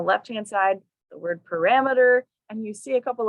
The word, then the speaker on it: parameter: sound and it gets shortened to emitter mirror parameter so practice that middle emitter emitter the third